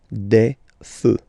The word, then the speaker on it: des feux: You don't put S, but you will put X instead, and then you don't pronounce it. Des feux, un feu, des feux.